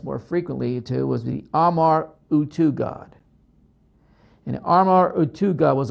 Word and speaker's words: Amar-Utu: Now, there's some evidence that this horned animal could be a representation of Amar Utu, and I'll spell it to you.